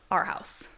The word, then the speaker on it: Arhaus: It's Arhaus. Yeah. Our House.